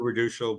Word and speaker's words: Raduchel: and career many pronunciation so normally I would do Redal but don't worry about